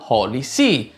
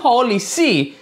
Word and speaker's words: HolyC: Holly appunto significa sacro ma Holly S si pronuncia esattamente in Holy C scritto in questa maniera che vuol dire letteralmente Santa Sede Tuttavia questo è cambiato